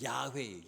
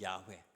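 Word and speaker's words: יהוה: 하나님의 이름이 여호와 그든 히브리이 이스라엘 사람들의 발음으로는 야회 야회 하나님을 야외라 그래요 우리 성경에는 여호와라고 기록을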